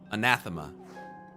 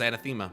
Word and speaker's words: anathema: Anathema. I thought it was anthemma. My bad. Anathema.